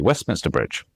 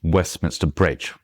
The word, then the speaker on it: Westminster Bridge: And if you just say that naturally, Westminster Bridge, Westminster Bridge, then you say it really quite fast at tum tutum.